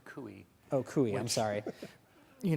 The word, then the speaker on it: Coie: uh producer right uh by the way it's kui oh kui i'm sorry you know it's written